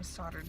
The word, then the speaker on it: soldered: We're about to go pick up my wedding rings because I got them soldered together finally. Okay, can someone explain to me why it's pronounced soldered when it's spelled soldered?